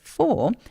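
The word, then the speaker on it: quatre: be the hardest, because you've got this r sound that French people use all the time. So we don't say r, we say r. Can you say that? R. So when you come to say 4, it's 4. 4.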